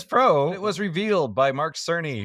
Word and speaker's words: Cerny: So PS Pro, it was revealed by Mark Cerny, who I apparently was calling Mark Kearney, and I was wrong, but now I know how to pronounce it correctly.